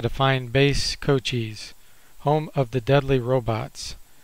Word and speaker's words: Cochise: That's the way you pronounce it, by the way, base Cochise.